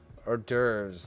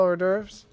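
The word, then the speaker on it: hors d'oeuvres: Is that how you spell or derves? Okay. I didn't think so. Okay. Okay. Okay. Okay. Okay. It's like, "No way." Uh, because French people don't pronounce the H.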